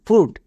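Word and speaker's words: fruit: জন্য টো foot F আর ইউ আই টি ফুড তাহলে একটা টিপস মনে রাখবো ইউ আই এর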